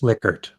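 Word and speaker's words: Likert: agree disagree strongly disagree I always say liker but I think it's lickert I'm terrible at remembering the correct pronunciation of the scale there Steve which is it remind me it's lickard liquor there we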